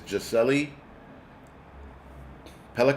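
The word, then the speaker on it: Gisèle Pelicot: yes the lady is Right her name is jeli pelot that's that's how you pronounce her name uh he was sentenced to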